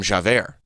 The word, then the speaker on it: Javert: It's like Javert. Javert.